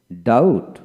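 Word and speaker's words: doubt: ডে টিট তারপরে আসেন ডাউট ডি ইউ বি টি ডাউট বি উচ্চারিত হবে ডাউট ডি এ ইউ টি ডাউট ডাউট এভাবে বলবেন তারপর আসেন শার্টল এস ইউ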